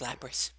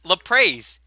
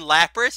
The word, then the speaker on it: Lapras: a what he's like 'la praise the Allah praise it and look at it like you mean Lapras he's like yeah 'la praise the dumbest pronunciation have ever heard for lappers ever still better than